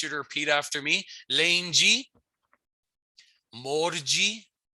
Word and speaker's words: lundi: Days of the week come straight from French, although we pronounce them a little bit differently. So I'll just get you to repeat after me. Monday is lundi. Lundi. It's a little different from French where you would say lundi, right?